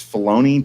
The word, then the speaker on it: Filoni: there you go yeah how is his name pronounced dave is it's filoni dave filoni i know his face he's really